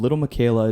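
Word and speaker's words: Lil Miquela: It's called Little Michaela. It's spelled Lilmiquela.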